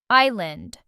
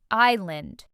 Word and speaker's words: island: This word has a silent s and means a piece of land surrounded by water. Island. Island.